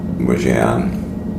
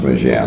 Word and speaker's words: Mougins: to get to toan I think it's pronounced muan I went on Google ask for the pronunciation and that's the way they pronounced it for and up ahead